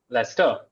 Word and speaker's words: Leicester: What's the pronunciation of that British term of that area in the world of Britain? Lester. Leicester. Okay.